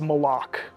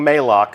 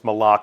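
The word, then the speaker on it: Malok: uh and that is malach malach right official pronunciation confirmed so if you hear anybody saying Maylock send them right here to the archive of this stream our design leaders told us it's malach we actually have a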